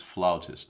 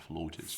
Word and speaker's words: flautist: And we're being told it's flautist, not flutist.